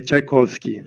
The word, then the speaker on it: Czajkowski: É Tchaikovsky, só que se escreve Czajkowski.